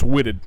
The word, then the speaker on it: Whitted: Almost whitehead, but it's Whitted. Whitted. It's pronounced Whitted.